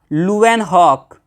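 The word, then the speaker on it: Leeuwenhoek: तो चाचा का नाम था एवी लुएनहॉक। एवी लुएन हॉक। स्पेलिंग पे मत जाइएगा।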